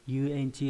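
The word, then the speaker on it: 遊園地: Âm ôn là yu. Có trường âm hoặc là không có, có trường hợp là không có, nhưng mà đa số là có trường âm. Ví dụ trong từ yuenchi là từ nhiều dùng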